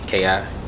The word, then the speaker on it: Rafiki: Okay, well, Rafiki X. It's Rafeki. But I was born in Memphis and went to the military.